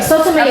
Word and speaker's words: Sotomayor: Sotomayor.